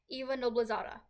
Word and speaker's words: Noblezada: Eva Noblezada.